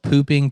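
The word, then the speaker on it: Phu Ping: like a palace called pooping palace that's literally how you say it it's like poo ping palace and i laughed and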